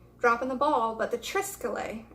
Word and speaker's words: triskele: did I'm sorry dropping the ball but the triskele it's spelled a little funny it's TR is ke